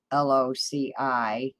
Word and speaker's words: loci: this very intriguing uh how to pronounce l-o-c-i is loci and I think that's